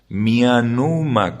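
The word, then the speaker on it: Mianumah: Mi Anuma se escribe con H final, 8 letras, Mianuma, como se pronuncia, Mianuma, y H final.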